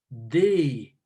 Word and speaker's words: they: was a d, but we pronounce it with our tongue coming closer to being in between our upper and lower teeth.